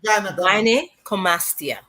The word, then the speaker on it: gynecomastia: I think it's called gynecomastia. Oh no, that's a false breast. When you see a 12, 13-year-old boy, boys, yeah, when you find what's the Cica. proper pronunciation for that? Gynecomastia.